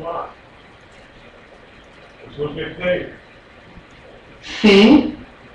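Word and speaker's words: פ: Fe. Okay, without the begesh, remember this is a begash effect letter, so without the begesh, the sound is softer. Fe. With the begesh, Pe.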